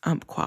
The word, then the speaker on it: Umpqua: I did live in the region for a while and a native over there told me it was umpqua and I was saying it correctly, but I don't know.